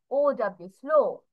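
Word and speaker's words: slow: তারপর দেখো কি পাচ্ছি, স্লো, স্লো, তাহলে এটার জন্য এস, ল, LOW, স্লো। লাস্টে ডাব্লিউ প্রোনাউন্সিয়েশন কিন্তু ওভাবে উচ্চারণ হয়নি, ডাব্লিউ প্রোনাউন্সিয়েশন ওয়া টাইপের হয়, এখানে কিন্তু সেটা আর আসছে না।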